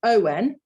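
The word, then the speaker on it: ans: a n is on and years with the s on the end is also on so this is a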